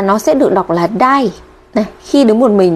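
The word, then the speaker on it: 台: khi đứng một mình nó sẽ được đọc là đai ok chưa ạ Ngoài ra thì khi nó ghép với các chữ hiragana hoặc canj còn lại nó có thể đọc là tai các bạn lưu ý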